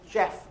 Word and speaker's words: Geoff: We have to tell them that it's Geoff Andrew.